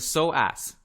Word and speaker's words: psoas: yes something like that at least in spanish it's the so ass okay so ass he's so at his